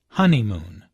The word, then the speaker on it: honeymoon: does look absolutely beautiful listen to the stress on honeymoon there are three syllables in honeymoon with a stress on the first syllable honeymoon this content word is